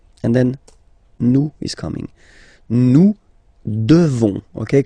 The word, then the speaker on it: devons: Nous devons. Okay, classic ending ONS for nous. Okay, you just pronounce this on, this nasal. Okay, and then the S, final S is not pronounced.